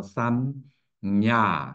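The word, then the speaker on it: संज्ञा: 여기서냐 노 나거 주음 즈가 거의 묵음 상태예요 야 그래서 냐를 할 때 앞에다가 즈의 상태를 놓아요 응야 하고지를 완전히 발음하지 않아 그냥냐 하고냐 앞에지를 반절을 딱 소리를 죽여요냐 그래냐 자 그래서 플러스냐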